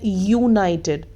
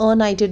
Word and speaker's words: United: It's wrong because हम क्या बोल रहे हैं, यूनाइटेड, हम अनाइटेड नहीं बोल रहे हैं ना, तो इसमें फिर से कॉन्सोनेंट की साउंड आ रही है, तो दिस इज़ रॉन्ग.